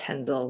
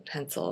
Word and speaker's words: Hensel: well especially if he's pronounced it the German Way it's henel not Hensel and anyway I I just